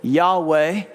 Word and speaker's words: Yahweh: Now, some pronounce it Yahweh or Yahweh, but in many traditions, the name isn't even pronounced because it's considered so sacred, so mysterious, so holy, so other.